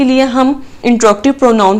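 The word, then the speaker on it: interrogative: Okay जी, next है हमारे पास इंट्रोगेटिव pronoun. सबसे पहले तो इसकी प्रोनाउंसिएशन आप अपने ठीक करें। जनरली इसको बोला जाता है इंटेरोगेटिव, जबकि ये गलत है। इंट्रोगेटिव इज the right word.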